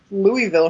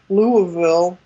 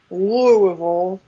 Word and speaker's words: Louisville: this big you know uh louisville show or sorry louisville show i think i pronounced it wrong the first time um louisville and and play in front